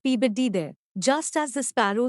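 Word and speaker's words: Peabody: P body P body turns out the name is pronounced pbd there just as the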